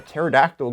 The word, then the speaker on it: pterodactyl: can't you hear a pterodactyl going to the bathroom because the p is silence it's a good one actually p is silent well that's the show